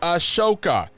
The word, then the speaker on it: Ahsoka: skew the only Star Wars podcast to correctly pronounce Ashoka I'm the I